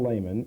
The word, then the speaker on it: Leman: Leman, L-E-M-A-N. It's a French, Swiss German, like Lake.